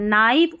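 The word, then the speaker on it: knife: फिर देखिए के है ना, के एन जब साथ में रहते हैं ना ऐसे स्टार्टिंग में, तो के साइलेंट रहता है। नाइफ और नी पढ़ते, कनिया का नाइफ नहीं पढ़ते हैं, के साइलेंट है यहाँ पर।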